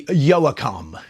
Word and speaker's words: Yoakam: them better than Dwight yokam or uh to say it phonetically Yoakam yeah Dwight Yoakam yeah